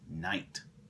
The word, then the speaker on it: knight: also read the princess knight notice how we spell the word night is with letter k it's a silent letter k you don't hear it remember this isn't nighttime